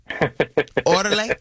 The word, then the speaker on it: Órale: I got it right orderly orderly is that how you say it yes you did you got it right yes what I hope